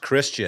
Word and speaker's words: Christine: then you might have Christine Michael second rounder pronounced Christian yeah is it Christian Christine oh that's that's